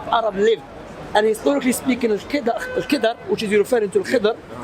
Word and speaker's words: Al-Khidr: Let the inhabitants, let the village that Kida inhabits.